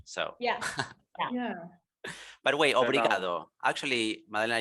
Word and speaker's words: obrigado: But wait, obrigado. Actually, Madalena, you don't really or very usually pronounce the initial O, right? Sometimes it's just brigado.